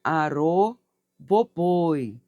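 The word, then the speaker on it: Arroboboi: Aroboi Oxumaré, que a minha prosperidade cresça abençoadamente. Coloque aqui. E se pronuncia arro boboi, tá? O chumaré.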